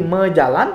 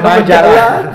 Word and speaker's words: majalan: Jadi mejalan tidak ditulis mejalan, tetapi majalan. Nah, sayangnya karena tulisannya majalan, pengucapannya juga majalah gitu.